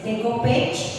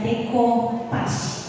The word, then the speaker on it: decoupage: Nah, jadi walaupun itu tulisannya kalau dibaca secara Inggris Decopage, tapi sebenarnya ini adalah asalnya itu dari Prancis. Makanya kita harus membacanya Decoupage, bukan Decopage ya Ibu.